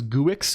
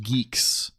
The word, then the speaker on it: Guix: Now it's pronounced Yeah, I I always thought it was Guix as well, but I was told it it apparently is pronounced geeks like like I don't I don't know either.